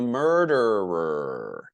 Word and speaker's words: murderer: The person is the murderer. And that's difficult to pronounce. Murderer. One more time. Murderer. R at the end. That sounds strange.